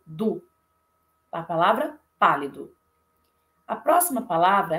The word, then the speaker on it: pálido: Então, por exemplo, na palavra, a primeira, pálido. Pálido. Então, a intensidade maior está na sílaba pá. Pálido. Eu não falo pálido e nem pálido. Eu falo pálido.